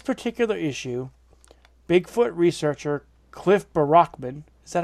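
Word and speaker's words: Barackman: On this particular issue, Bigfoot researcher Cliff Barrockman, is that how you say his name? Barrockman.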